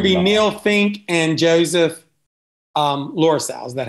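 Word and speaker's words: Louisell: It's going to be Neil Fink and Joseph Lorisau. Is that how you pronounce it? Lorisau.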